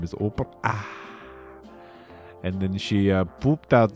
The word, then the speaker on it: Oprah: Oprah, I believe that is how you're supposed to pronounce the name, is Oprah.